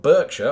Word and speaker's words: Berkshire: Massachusetts was incorporated into Berkshire County after all Berkshire or indeed Berkshire as its pronounced back home because that's just what we do is the home of